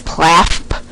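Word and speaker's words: PLAAFP: But actually the official acronym if you choose choose to pronounce it as such is PLAP which means present level of academic achievement and functional performance.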